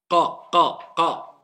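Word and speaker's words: ق: Le fond de la langue et le fond du palais.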